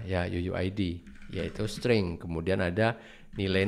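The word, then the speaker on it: UUID: kalau update ini harus ada Yuyu ID pasti bacanya Ya Yuyu ID yaitu string kemudian ada nilai not listnya bisa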